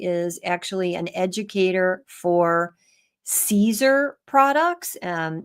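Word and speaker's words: Siser: remember that Stephanie is actually an educator for Caesar products um it's spelled s i s r but it's um pronounced Caesar and Caesar makes um materials that we use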